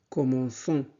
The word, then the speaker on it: commençons: personne du pluriel, nous, le C se transforme en CCD devant ONS pour conserver le son S. D'accord? Nous commençons.